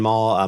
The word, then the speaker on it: Mall: I'm Maul. My name, as as you said earlier, my name's pretty easy. Two syllables. Maul, like the shopping mall, M A L L.